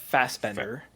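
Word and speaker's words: Fassbender: Uh the obvious is Michael Fastender. Is that how you pronounce it?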